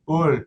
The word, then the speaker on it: Hull: It's not yeah, if you're saying Hull, it's not right. It's not right. You're not from Hull if you don't say it like that.